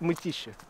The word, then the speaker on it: Mytishchi: Can you pronounce Mytischensky? It's city nearby Moscow. It's called Mytishchi.